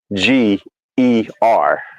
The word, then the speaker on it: Niger: And I had posted the pronunciation in the chat, and the pronunciation is Neeger, right? Is how it shows you how you actually supposed to pronounce it.